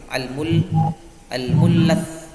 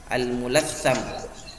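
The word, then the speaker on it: المتلثم: Kalau harokatnya yang ini al-mullath. Ya. Al-mullath. Tapi kalau yang benar adalah al-mulatham.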